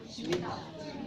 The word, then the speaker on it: Shemitah: Is it Shmata? How do you say it? Shemitah.